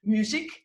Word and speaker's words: Muzik: have a very interesting guest i hope i'll pronounce my guest's family name properly but i'll i'll make an effort it's music is it more or less there okay you got it music people call me music but great yes uh